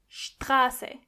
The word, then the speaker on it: Straße: The same exact thing goes when you see a T after an S. Together they are st. For example, Straße.